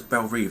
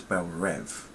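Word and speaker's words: Belle Reve: though is that they don't pronounce it as bellrive they pronounce it as belrev I mean I know it's spelled r-e-v-e but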